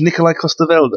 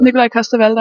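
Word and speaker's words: Nikolaj Coster-Waldau: Now, tell me the correct pronunciations. Nikolai Costa-Waldau. Nikolai Costa-Waldau.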